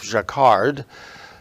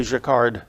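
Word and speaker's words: Jacquard: the name of Joseph jacard that J is pronounced like a zh invented a loom that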